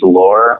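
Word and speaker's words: Loehr: sports minutes by James lore I think that's how to pronounce his last name but spelled L so e HR and it's a book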